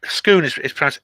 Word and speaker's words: Scone: It's Scone. It's actually pronounced like scone, like they drink.